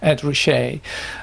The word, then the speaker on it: Ed Ruscha: So that's that's an introduction, but we didn't actually hear Ed Rcher, as you say his name, Ed Rcher.